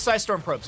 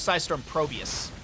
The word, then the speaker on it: Psistorm Probes: it's sorm probes right I'm not saying their name wrong am I it is sorm probes okay I for some reason thought it was sorm Probus Camp was not stolen